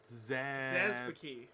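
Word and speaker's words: Szapucki: Zazpuki. Zazpuki. Thomas Zazpuki. Zazpuki. I don't know. Whatever. Oh, it rhymes with Snooki.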